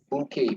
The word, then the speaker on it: bouquet: Bouquet, bacanya bouquet ya, bouquet of flower. Itu bahasa Perancis tuh, ejanya agak aneh. Bouquet. Ya kayak kalau kita buket ya, a bouquet of flowers.